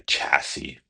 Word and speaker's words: chassis: Well, we got rid of the s at the end. And we call it a chassis.